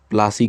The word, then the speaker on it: प्लासी: तो अंग्रेज़ों ने इसका जो प्रोनाउंसिएशन है वो प्लासी कर दिया।